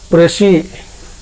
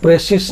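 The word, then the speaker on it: précis: देखिए यहाँ पर PRECIS, जिसको कि हम लोग प्रेसी पढ़ते हैं, प्रेसिस नहीं। इसका एग्जैक्ट प्रोनाउंसिएशन होता है प्रेसी।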